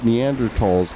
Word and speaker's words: Neanderthal: not Falls huh uh I think the correct pronunciation is Neanderthal but because there's an H right after it that is silent I don't know they've